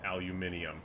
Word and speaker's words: aluminium: I cannot enter money aluminium aluminium they actually pronounce it aluminium nice this war creature